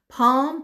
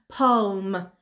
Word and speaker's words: palm: این کلمه هم شنیدم خیلی ها میگن پالم ولی ل خونده نمیشه، تلفظ نمیشه.